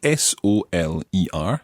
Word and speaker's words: soler: It's spelled S-O-L-E-R, soler.